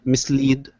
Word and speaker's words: mislead: Mislead second syllable stress.